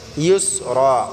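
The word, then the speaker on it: يُسْرًا: দিয়ে উচ্চারণ করতে হবে ইউসরা উসরা বললে হবে না ইউসরা এখানে ইয়াসিন পেশ ইউস বললে হামজা সিন পেশ উস হবে এখানে লেহনে জলি করা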